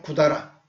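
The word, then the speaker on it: 百済: 고다라는 백제를 일본식으로 말하면 쿠다라라고 부릅니다. 샤쿠다이 이렇게 한자로 발음할 수도 있는데 그런 말을 안 씁니다. 일본 사람들은 구다라, 백제를 구다라, 나이, 우리말로 아니다 이 말이에요.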